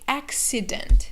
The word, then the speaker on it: accident: a separate sound so the first c is like a k sound and the second c is like an s sound so we say accident we don't say accident